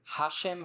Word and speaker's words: Hashem: yeah but Hashim has emphasis on the first Hashim passion yeah and